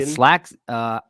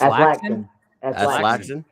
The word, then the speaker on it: Laxton: So TJ, I don't know how to say his Alaskan. Slaxton. That's Laxton.